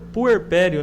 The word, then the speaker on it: puerpério: Ó, o puerpério, né? Assim que se pronuncia, né?